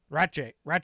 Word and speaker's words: Ratje: now they had Caleb Ratje, I asked him like 100 times, like, how do you say it? And he's like, Ratje. I'm like, Ratje?